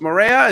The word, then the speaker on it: Moreira: Carlos Moreira. Is that how we pronounce it?